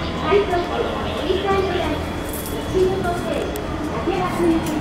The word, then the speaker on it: 竹松: けど違う最初あれどうやって読むか思ってから松竹か思えたでしょう松竹のもおかしいしよう見たら松竹じゃないですね竹が強いと読むのもおかしいよ普通快速シーサイドライン